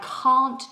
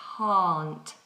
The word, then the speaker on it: can't: uh vowel in what when we're saying I can't do something I cannot do something then we must have a long vowel sound so we have an open mouth a I can't I can't stand it